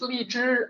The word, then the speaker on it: lychee: And another gift was lychee nuts. When I learned Mandarin, which is li zhi, I thought that's a mispronunciation. It's lychee, right? Which you can also pronounce lychee.